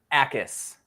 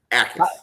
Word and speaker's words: Jacas: So sticking with the Illinois defense, Gabe Jacas, is that the correct way to pronounce that, Tristan? Jacas. Jacas. Silent J, though. So as long as you don't say the J, it's acceptable.